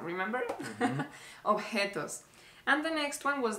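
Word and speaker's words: objetos: mistake you made was obos yeah I said objects yeah you said objects but the letter J in Spanish remember you pronounce it like like a tired dog remember ofos and the next one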